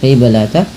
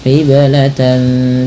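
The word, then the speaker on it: قبلة: Nah, kemudian ini ada huruf yang berdekatan antara huruf kaf dan huruf qof. Maka harus bunyinya dibedakan ya ka qi ya bukan kaki tapi falan qibl qibla. Kemudian pantulkan pada lafal qiblata karena ia ada bacaan qalqalah pula pada lafal huruf ba yang diwarnai dengan biru muda.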